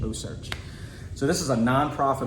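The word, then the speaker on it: OCEARCH: with a non-profit called oh search and it's spelled o-c-e-a like ocean but then rch oh search so this is a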